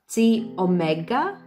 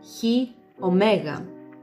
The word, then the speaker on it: Chi Omega: So the first one, I think in the US you pronounce it as Chi Omega, but in Greece we would say Chi Omega.